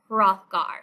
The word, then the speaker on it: Hrothgar: halls in class um of the danish king hrothgar so that's how you pronounce that name so it's hrothgar's meat hall